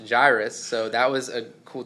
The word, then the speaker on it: Jairus: ruler from the synagogue Jairus who I never in my whole life have heard it pronounced Jairus I've always heard it pronounce Jairus so that was a